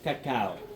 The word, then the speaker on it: cacao: It is cacao. Cacao because cacao it is how the natives they used to say it.